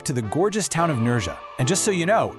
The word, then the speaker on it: Nerja: Today we're taking a trip to the gorgeous town of Nura. And just so you know, it's pronounced Nurha, right on Spain's beautiful Costa dels.